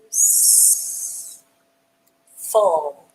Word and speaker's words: useful: U has the U sound, S has the S sound, and the E is silent. And once again, we have our suffix FUL has the full sound. Use, full, use, full, useful, USEFUL, useful.